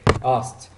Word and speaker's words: asked: And some of them we pronounce it t, like asked, helped, packed.